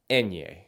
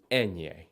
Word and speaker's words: ñ: The letter itself is pronounced ñ. Think of the singer Enya, but change the sound to ñ. Basically, this letter makes the same sound as the NY when put together in English, like in the word canyon.